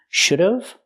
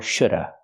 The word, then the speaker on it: should have: a contraction should have this contraction can be pronounced two different ways should have or Shoulda because you have a consonant after you can pronounce it two ways so I can say